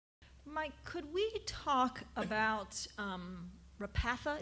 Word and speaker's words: Repatha: Mike, could we talk about Repatha? Is that how you say it? Yes. So that's the contract that you initiated with Amgen, Correct.